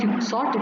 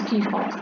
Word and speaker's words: Quixote: It is not Quixote, it is pronounced as Quixote. It's a Spanish name.